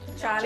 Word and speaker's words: Johnny: Johnny Depp. Someone said it right, I hear. His name is Jonny. Han heter Jonny. Okay? You know, I just kind of, I'm just, you know, removing the J sound and just, yeah.